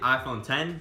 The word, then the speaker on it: iPhone X: called the iPhone X I'll actually pronounce it iPhone 10 so I'll call it